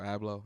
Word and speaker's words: Abloh: And, man, I mean, the world just really knows by Virgil, but Virgil Abloh, I think is the way you pronounce his last name.